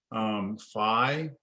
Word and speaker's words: phi: It's pronounced different ways depending on who you ask. Phi, you might hear people call this phi. You might hear people call this phi. Okay. I use both.